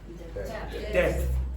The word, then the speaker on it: depth: But Irish people very often remove that H and change that T into an aspirated T.